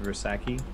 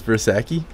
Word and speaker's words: Versace: It's pronounced Versace. Forever known as Bersaki.